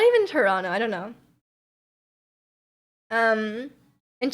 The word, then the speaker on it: Toronto: before today that's different um Toronto Toronto yeah Toronto that's how you say it you can't say